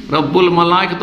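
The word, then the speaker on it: رَبُّ الْمَلَائِكَةِ: এখন আমি এর বদলে অন্য তসবিহটা বলছেন সুবহান কুদ্দুসুন রব্বিল মালাইকা বা রব্বুল মালাইকা, রব্বিল না রব্বুল হবে, রব্বুল মালাইকাতে ও রূহ। এটা তো আরও মুশকিল, ওইটাই পারি, পড়তে পারবো, এটাই পড়তে পারবে। সুবহান কুদ্দুসুন রব্বুল মালাইকাতে ও রূহ এইটা পড়তে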